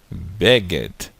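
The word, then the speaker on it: בֶּגֶד: Depois nós temos a letra Dalet, com som da letra D. Então fica Beged, Beged.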